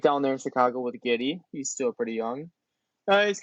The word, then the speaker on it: Giddey: You know what rhymes with Giddey? Did he? Giddy, Kitty. Allie the dog.